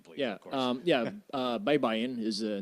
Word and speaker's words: Baybayin: Yeah, and the correct pronunciation, please. Yeah, of course. Baybayin is the name of an ancient writing system from the Philippines.